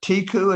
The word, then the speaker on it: Teku: Tiku, is that it? Yeah, I say teku, but I think you can say tiku.